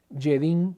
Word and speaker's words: Jedin: Trento del sacerdote alemán yedin se pronuncia se escribe con j jedin es increíble para explicar